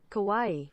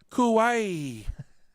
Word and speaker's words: Kauai: I cannot pronounce Hawaii names let's do that pronunciation it's like Hawaii both okay Kawaii Kauai thank you Google how do you sound Asian